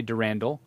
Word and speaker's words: Durandal: slick can we use durandal um and and i've heard controversy on the pronunciation i say derandal during dal durandal i'm not sure i say potato i say i say durandal still okay it doesn't